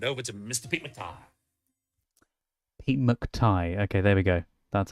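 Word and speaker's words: Pete McTighe: Pete McTai.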